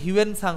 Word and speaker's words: হিউয়েন সাং: এইটার উচ্চারণ কিন্তু হিউয়েন সাং হবে, বুঝলে?